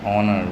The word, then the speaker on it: honor: don't say how and honor we don't say horn in these words that you see here all the HS are silent an a an honest